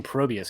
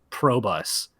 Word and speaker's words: Probius: of this cast is they're pronouncing probius correctly heck yeah we've cast probius in the past i had i've had to ask in interviews in the past because i would have said pro bus but uh yeah i